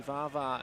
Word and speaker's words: Vaha: Yeah, he's been outstanding the whole tournament, Davis Vaha. He also came across before the start of the match to correct Ronan's pronunciation. It is actually Vava.